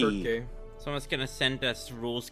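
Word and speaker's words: Circe: Cersei, when in reality the Greeks would have pronounced it Kirky. Or, you know what I mean? the hard C sound, not a soft Wait, one.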